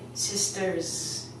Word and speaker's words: sisters: We actually don't put an S sound on it, we put a Z sound. So I would say sisters.